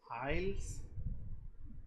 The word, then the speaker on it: isles: And this is Isles. Okay, ISLES, Isles. This is nothing but a group of islands. I think you are very familiar with the word islands. So here the S is silent, and island is a